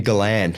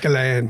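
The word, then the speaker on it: Gollan: Uh Tony Galan. Galan. Yeah, there's a little French twist on that one.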